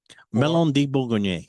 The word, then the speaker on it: Melon de Bourgogne: Melon de Bourgogne. Yes. So That's as my it- pronunciation on that.